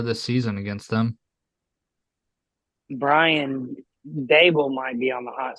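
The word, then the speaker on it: Daboll: Brian Dable might be on the hot seat.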